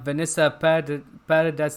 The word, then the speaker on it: Vanessa Paradis: Like I said, this actress for if you don't know, that's actually Vanessa Paradis. That's how you pronounce her name.